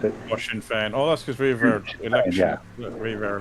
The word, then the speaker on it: Sinn Féin: How do you pronounce it? Sinn Féin.